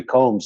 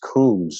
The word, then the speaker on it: Combs: Jeffrey Combs and and he said I think it's pronounced Coombs and I I'd like you to clarify that for me is it originally pronounced well there's so much yeah well Avery is uh incorrect on that but not really there are there is another version of my name with two o's in it and Brits can't help